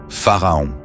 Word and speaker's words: Pharaon: Ensuite, le maître s'assoupissait en vocalisant le puissant mantra « Pharaon ». Ce mantra se prononce en 3 syllabes de cette façon « Fa-A-Ra-O-N ».